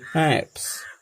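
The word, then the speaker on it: schnapps: B have स्नैप्स, B have sausage, यहाँ ध्यान दीजिएगा ये सी साइलेंट है, इसलिए हम इसका उच्चारण करेंगे नैप्स।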